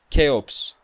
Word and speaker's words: Cheops: I don't know how to pronounce it in English, but it's Cheops.